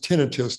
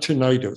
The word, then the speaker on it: tinnitus: um you're probably talking about a condition called tinnitus ringing in the ears etc and by the way the word is pronounced tinnitus not tinnitus so if everybody tinnitus means ringing like a